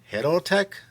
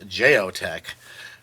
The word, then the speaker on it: JEO-TEC: today this is the i think it's pronounced hiddle tech i'm gonna have to ask um the fine guys at jt um how to pronounce it us americans love to call it geotech which i know is not the proper pronunciation as this knife is from spain i just got the